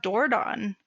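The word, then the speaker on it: Dordogne: I am going to shout out dordon which is spelled d-o-r-d-o-g-n-e um and it misses a couple letters because it is very French uh it is a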